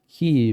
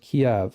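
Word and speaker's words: Kyiv: so first of all she says I leave keev tonight it's not pronounced key Victoria newand pronounced Kev all right um I I realize that she's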